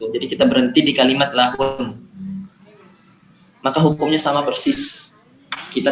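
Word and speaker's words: لهن: Antum ingat di situ masih ada tasydid, jadi harus tetap dibaca. Wa antum libasul lahun. Lahun. Lahun. Antum tahan di huruf nun.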